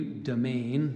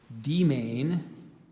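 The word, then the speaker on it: demesne: domain at any cost there's some alternate pronunciations there's I gave you domain there's also demain and demean Jermaine d e um a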